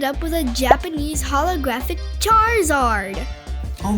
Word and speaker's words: Charizard: Charizard.